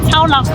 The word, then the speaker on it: 草漯: 气一点，所以我有确定我的发音是对的，是念超老。